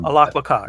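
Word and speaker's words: Alaqua Cox: Alacua, Alacua Cox.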